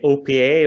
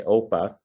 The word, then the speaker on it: OPA: question like first question how is it pronounced how do you how do you say do you say opa or do you say oppa and uh yeah the